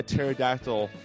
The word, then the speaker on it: pterodactyl: can't you hear a pterodactyl go to the bathroom they're dead because the p is silent yes yeah okay and